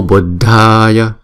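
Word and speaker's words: Buddhāya: Nhớ là chữ đờ, hờ là chúng ta đọc là đờ. Buddhaya. Chữ A là hai nhịp Buddhaya, chứ không phải là Buddha, không phải là thờ ha, không phải là Buddha mà là Buddhaya.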